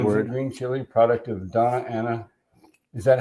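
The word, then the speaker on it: Doña Ana: Green chili, product of Donna Ana. Is that how you pronounce that?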